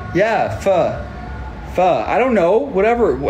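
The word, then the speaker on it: phở: he's like huh he's like sir like yeah fur fur I don't know whatever I just I just want foe you know anyways we got foe this is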